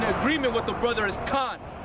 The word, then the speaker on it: Khan: with the brother is Khan. You were saying Cain. You say Cain. It's Khan, man. Not to be smart, not to be an asshole. The proper pronunciation is Khan. K-A-N, Khan.